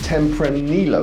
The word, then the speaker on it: Tempranillo: about to taste a tempra nilo is how you pronounce it uh tempranillo from Spain um which